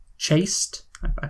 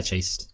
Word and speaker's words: chaste: naughty fantasy that's also too chaste is that how it's pronounced yeah chased good good not chast that would be ridiculous uh it would make